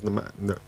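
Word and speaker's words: Nmecha: Well, how they pronounced it was nechae.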